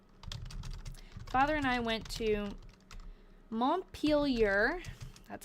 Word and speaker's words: Montpelier: Father and I went to Montpelier, that's how you pronounce it, and did some trading and came home.